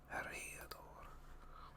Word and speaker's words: Eriador: Gateway, because I can never remember how to pronounce these words. What am I looking up? Ariador. Ariador.